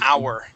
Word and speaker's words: hour: We have we have very few words in English where we uh do not pronounce the H. The most common words are going to be honest, honor, and hour.